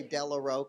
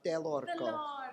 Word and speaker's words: Dellorco: you say my name because Americans cannot say my name they say Delo oh really delor but you say it deloro deloro proper I like that thank